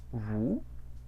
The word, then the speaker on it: vous: Ese diptongo U, ¿cómo se pronuncia? Bonjour. Como U. Como una U, efectivamente.